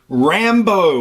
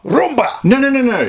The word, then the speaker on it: Rambo: Dude, seriously, his name is Rambo. Why do you always get people's names wrong? You do this every time. Rambo, it has 2 syllables. Yeah, I know. Rumba.